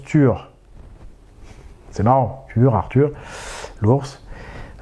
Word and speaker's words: Tyr: Il faut savoir que Tyr en norrois ça se prononce Tur.